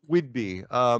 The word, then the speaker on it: Whidbey: Whidbey.